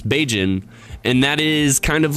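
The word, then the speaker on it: Bajan: we wanted so uh b-a-j-a-n i guess it's a little bit cut off on my screen uh is kind of pronounced like cajun so it's beijing and that is kind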